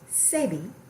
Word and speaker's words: Sebi: Sebi. It's spelled S-E-B-I, but it's pronounced Sebi.